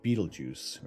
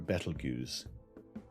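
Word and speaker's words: Betelgeuse: Bellatrix straight up or Beetlejuice or battle goose depending how you want to pronounce it or aldebarin so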